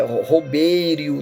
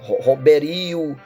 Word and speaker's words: Robério: Porque eu fui numa igreja suíça e eles falam meu nome, é Robério, né? Roberio, né? Há um erro na pronúncia, porque é normal isso, mas é o meu nome.